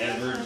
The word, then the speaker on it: Edvard: The D kind of softens to somewhere between a V and a W, so I call it Edvard Grieg.